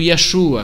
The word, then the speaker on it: Yeshua: Eles então, essas vestes tradicionais judaicas, o nome Jesus, pronunciado Yeshua, como se isso fosse uma coisa importante.